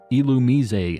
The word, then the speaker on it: Illumise: why a lure ball you talk about it's pronounced illumise I you know I heard somebody saying that